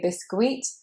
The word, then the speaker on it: biscuit: That U makes you want to say biscuit. But in fact, it is just the I sound, biscuit. Two I sounds, biscuit.